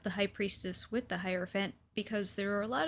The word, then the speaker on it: Hierophant: I've heard a lot of people mispronounce this character's name. I've heard Hierophant, I've heard Hierophant, which is the correct way, and I've seen people stumble over it.